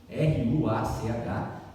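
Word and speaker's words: רוח: Se escreve Ruach, R-U-A-C-H, mas na pronúncia em hebraico se fala Ruach, que é Espírito.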